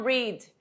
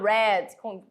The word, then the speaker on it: read: E a gente não vai falar read. Read é no presente. A gente vai falar read, parecendo cor vermelha mesmo, tá? Mas é porque ela está no particípio passado e se escreve da mesma forma, porém se fala de forma diferente, tudo bem?